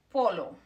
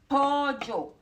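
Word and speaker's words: pollo: When you see those, when you see two L's or double L, we pronounce that as a J sound.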